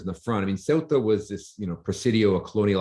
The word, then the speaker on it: Ceuta: One of the, I think you've started to talk about, is it Ceuta? Is that how it's pronounced?